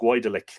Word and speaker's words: Goidelic: The term Gaelic, and here it is, we would spell it Gaelic, but the earlier spelling Goidelic, such that you would look at it and go Goidelic.